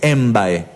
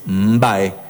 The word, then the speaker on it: mbae: esa finalización utilizando mbae no es mbae es mbae con mb que es una palabra guaranítica no que al hispanohablante por ejemplo le cuesta pronunciar m beu dice u o por ejemplo nosotros tenemos acá una comunidad que es borore no es emborore pero al hispanohablante le cuesta esa pronunciación inicial de las palabras MB Entonces le agrega una e Como por ejemplo hacen